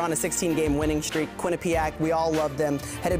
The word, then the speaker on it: Quinnipiac: Those players have some experience, and it's pronounced Quinnipiac, everybody.